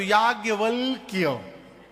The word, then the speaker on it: याज्ञवल्क्य: आधा क य आधा ल आधा क दो दो आधा है शुद्ध उच्चारण करिए तो याज वल क इतना टेढ़ नाम है